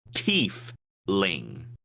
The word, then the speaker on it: Tiefling: It says Tiefling in the document. Does it? TEEF-LING. So you heard it here on Favorite Terrain, everybody. It is officially Tiefling.